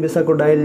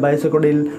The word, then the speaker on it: Bisacodyl: बसा कडिल बसा कडिल इसको हम किसी भी तरीके से प्रोनाउंस कर सकते हैं बसा कोडाइल या बाइस कोडल ठीक है वो पाच